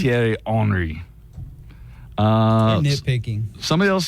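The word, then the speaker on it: Thierry Henry: it's the hry part they said Terry H tiry hry uh nitpicking somebody else says that I'm not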